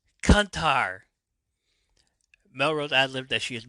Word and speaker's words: Kuntar: Kuntar, no. Oh, wait. Um, that's not how it's pronounced. Oh, shit. Some yells at Artie and Ruth to say it right. Say it right. It's Kuntar. Kuntar.